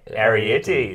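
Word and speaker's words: Arrietty: Arietti, there we go.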